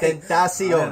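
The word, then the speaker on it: Tentación: That's how you pronounce his name. It's like Tentacion.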